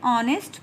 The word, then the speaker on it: honest: An honest person. Students, you will ask, ma'am, this word starts from H. Then how can you say that, ma'am, this is vowel? Here H is silent. H is silent.